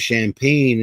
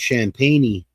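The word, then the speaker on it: Champagnie: And I thought his name was Champagne. It's Champagne. And staring at Derek White. Got it and the foul. Got him. I mean, unless he pronounced I it can wrong. fly. But it's spelled like champagne.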